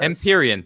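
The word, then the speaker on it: Empyrean: I like this guy oh tattoo game says empirion thank you for that awesome I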